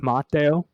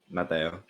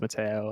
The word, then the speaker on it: Mateo: So Okay, it's Mateo. Mateo. Yeah. Claro. That's the way you should pronounce it, but everyone just says Mateo, and I say Mateo. Only my parents and my grandparents and my sister call me by that.